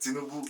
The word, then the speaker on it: Tinubu: Is that how you pronounce it? Tinubu.